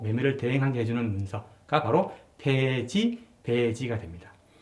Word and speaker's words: 패지: 사대부 집에서 가사, 집을 팔 적에 써주는 폐지라 쓰고 읽기는 배지라고 읽기도 하고 가끔씩 이제 폐자가 나옵니다. 이건 배자 이렇게 읽어주기도 하는데 그래서 오늘날로 치면은 매매 위임장, 권리 위임장쯤 되겠어요, 그죠?